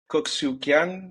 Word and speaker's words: Kok Siu Kian: So today I am with Kok Siu Kian. Am I pronouncing that correctly?